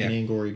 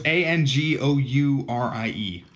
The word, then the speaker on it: Angourie: An Angory bunny. Well, it's Angourie. Angoury. Yeah.